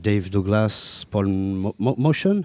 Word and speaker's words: Motian: like Dave Douglas, Paul Motion. How we say? He always pronounced it Motion. I think it was an Armenian name, so it was actually Motian. Motian. But he liked Motion.